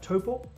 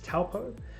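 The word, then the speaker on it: Taupō: but i grew up in a place called toppo uh often referred to also often pronounced as taupo which was which is right next to the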